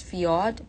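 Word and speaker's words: Fjord: So it's uh it's pronounced as Fiat.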